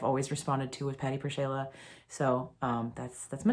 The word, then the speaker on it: PerShayla: the name memorable so i just did per shayla phonetically that's something that i've always responded to with patty purshala so um that's that's